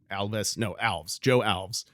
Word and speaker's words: Joe Alves: Joe Alves. That's how you pronounce his name.